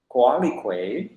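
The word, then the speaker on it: Coatlicue: regular motif and then score is associated with kualikui this world is came from the indigenous is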